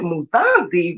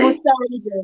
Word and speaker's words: Musanze: fell in love with Muzanzi off the video. Am I saying it correctly? Yeah, Muzanzi? Musanje.